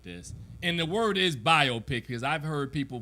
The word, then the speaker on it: biopic: a biopic like this and the word is biopic because i've heard people pronounce it biopic come on people common sense biopic doesn't even